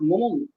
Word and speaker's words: Momoru: So Momoru, we know that name is really pronounced Momoru.